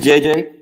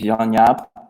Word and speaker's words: JJ: Andrew my name is JJ or actually my name is Yaya I'm originally from the Netherlands JJ is more easy to pronounce so I'm sticking to